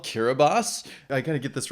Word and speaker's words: Kiribati: this country's name right how to pronounce kiribati ah okay kira bass we're already learning stuff